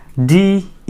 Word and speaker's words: debris: DEBRIS. Debris? No, it's wrong. It will be debris. What is it? Debris, not debris.